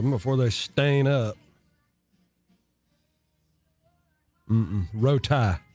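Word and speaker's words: Rowtie: Rotie. That's how you say it. R-O-W-T-I-E. That's how I always hear it. Rotie.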